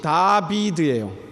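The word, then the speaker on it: דוד: 그래서 히브리어로 다윗이 다비드예요.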